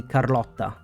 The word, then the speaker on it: Carlotta: we met car and like before almost perfect but I'm not complaining it's just technically Carlota when we arrived at the avard Vault we heard a name from The Montel family that Carlota but also everybody the